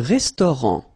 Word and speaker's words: restaurant: Un restaurant. Final T not pronounced.